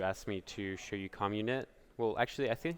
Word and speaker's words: Commun.it: Hey Mike, I'm just recording this video now because you asked me to show you Commun.it. Well, actually, I think it's actually pronounced Commun.it, so like community, which is a weird way to pronounce it anyway.